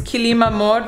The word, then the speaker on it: Kilim Amor: The shop for the rug is Kilim Amor, that's the brand name. I think I'm pronouncing it right. It's Kilim and then Amor, like love.